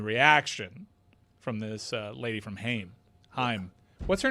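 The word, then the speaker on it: HAIM: No, it's H A I M. Yeah. Like like the first syllable him.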